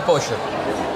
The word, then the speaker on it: pollo: La doble L le dices cho.